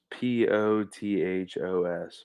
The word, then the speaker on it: pothos: yeah it's golden pothos p-o-t-h-o-s pothos is how you pronounce it um it's illegal in